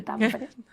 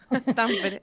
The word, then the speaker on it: Tampere: Pues mira, si te soy sincera, cuando cuando me fui a estudiar estudios de género a Finlandia, a Tampere, que se dice Tampere, Tampere, ella ya se ha enterado cómo se dice,